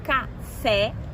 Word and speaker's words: café: Quando eu pronuncio café, café é uma palavra oxítona, tem a última sílaba tônica, na separação café.